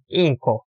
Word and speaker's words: inko: 그리고 잉코 잉크 잉코라 바라만 되고 잉코에서 이응 소리가 나, 이응 받침 소리가 나는 그런 말은 있습니다.